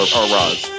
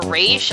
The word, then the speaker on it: Ra's: thing, and I'm still formulating my thoughts on Race and Barbara getting together. Race. Or Roz.